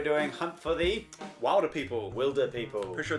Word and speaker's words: Wilderpeople: Wilderpeople. Pretty sure it's Wilderpeople. Wilderpeople. It's spelled W-I-L-D. Like wildebeest.